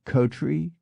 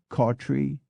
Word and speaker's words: Coughtrey: But in fact there are 2 other names with 5 pronunciations: Coughtrey, which can be Cotrey, Cawtrey, Cowtrey, Cootry, and Coughtry, and Wriothesely, which can be Wrotsley, Ritsley, Risley, Rithley, or Riothesley.